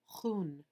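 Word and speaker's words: jun: jai ki jai words the word one in english is pronounced hoon to cabe 30 sheep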